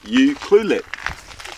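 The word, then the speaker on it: Ucluelet: yeah you cluet ulet oh it's actually easy U cluet you cluet all right here we go how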